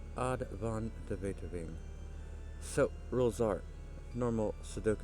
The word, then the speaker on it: Aad van de Wetering: Gonna check out a puzzle today called Indifferent Neighbors by Advon Deet. Uh hopefully I didn't butcher that name too badly. I've heard it pronounced that way on Kraken the cryptic odd von Deto.